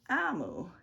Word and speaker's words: Omu: amu and it's pronounced amu it is the igbo word for queen thank you amul by